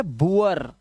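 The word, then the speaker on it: boor: Double O के बाद आर अगर आएगा तो डबल ओ का जो उच्चारण है वो उआ करना है आपको। क्या करना है? उआ, याद रखना। अब देखो यहां पर ये है पुअर, ये है बुअर, अब इसे बुर या बोर मत पढ़ लेना।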